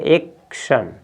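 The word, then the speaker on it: action: तो इसमें देखिए इसका उच्चारण करेंगे तो ए है, इसके बाद क्या है, CT दो एक साथ है व्यंजन, तो इसमें C को आधा क पढ़ेंगे एक, तो क्या पढ़ेंगे एक्शन।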